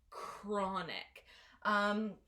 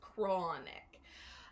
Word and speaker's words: chronic: that's a highlighter okay it is not a chest sound it is a cook sound so the word is pronounced chronic where the first syllable is where the stress is so it's chronic chronic is an adjective